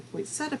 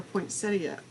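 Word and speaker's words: poinsettia: new releases is called the point seta pieces or point ctia I don't know how you like to pronounce it I pronounce it pointsetta but this this one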